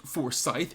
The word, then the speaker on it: Forsyth: of me good sir it's pronounced forsythe and he's not a hoe thank you very much